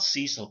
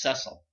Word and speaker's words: Cecil: of this line C it's not Cecil by the way it's cesil that's how the name is pronounced before this this this